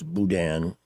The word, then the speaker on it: boudin: Even though it's spelled boudin, it's budan.